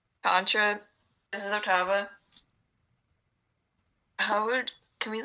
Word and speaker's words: Ottava: Laura's gonna turn to Octavia. No, I keep saying it wrong. Ottava.